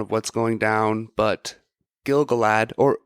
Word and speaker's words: Gil-galad: I know, they kind of say it like that, but it is Gil-galad. It's Gila, not Gali.